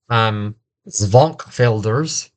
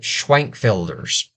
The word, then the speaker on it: Schwenkfelders: Sectarian refers to a smaller group like and in German, I believe it's pronounced Zwankfelders, but in the States, they changed the pronunciation and they called it Schwenkfelders.